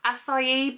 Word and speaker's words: acai: okay and it's there acai berry is that how you say it i used to always say akai berry and then i think i realized that i was very wrong uh this is a